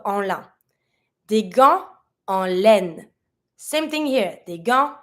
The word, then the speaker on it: laine: Because there's my E at laine, I'm pronouncing the N, but I'm never going to pronounce the E that has no accent at the end. So I'm not going to say laine, I'm going to say laine.